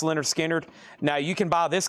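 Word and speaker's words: Lynyrd Skynyrd: Skard's debut pronounced Leonard Skard.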